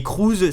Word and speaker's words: Cruz: Donc Cruz, pas C-R-E WS, mais Cruz C-R-U-Z, mais la prononciation reste la même, et la WWE ne